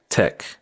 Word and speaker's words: take: this word other than the fact that we pronounce IT Tech if you notice at the end of every